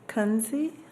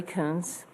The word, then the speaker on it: Kunze: The next person is Kunze. Did I pronounce that right, or correct me on my pronunciation? You were close enough. My name is Coons.